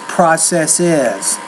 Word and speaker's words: processes: If you want to make it plural, you have to put es and add an additional syllable. So again, singular is process, and the plural form is processes.